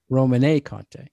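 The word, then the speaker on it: Romanée-Conti: What's the proper pronunciation? Domaine Roman? Romanée Conte.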